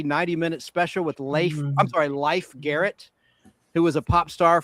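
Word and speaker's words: Leif Garrett: Yeah, people think his name was pronounced Life Garrett. It was Life Garrett, like the game of life.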